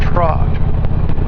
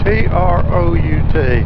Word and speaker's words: trout: to go riding yeah let's go Trot I think that's how he pronounced it trot t r o u t now back home like I say things is pronounced different back home that would be trout but here they say Trot all right garage sa